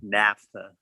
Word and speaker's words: naphtha: Naphtha. Naphtha. How do you spell it?